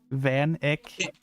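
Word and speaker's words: Van Eyck: k yes v y it's ick van ick okay j a n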